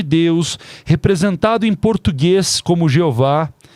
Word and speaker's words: Jeová: No português, o nome do tetragrama escrito mais de quase 7000 vezes na Bíblia, que é o Yh, que em português a pronúncia correta é Jeová, tem um significado.